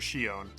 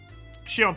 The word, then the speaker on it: Shion: Shon Shion pushed Kasai. That's not how you say it.